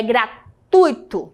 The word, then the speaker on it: gratuito: É gratuito, tá?